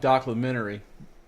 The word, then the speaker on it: documentary: Yeah, like documentary. Documentary. Yes. Documentary. It's docu, D-O-C-U, docu, M-E-N, Terry. Documentary. Yeah. You put the emphasis on the wrong syllable.